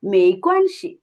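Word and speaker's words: 没关系: আমরা বলি না ওকে সমস্যা নেই, তখন বলতে হবে মেইকোয়ানসি।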